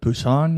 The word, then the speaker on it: Busan: Busan, yeah.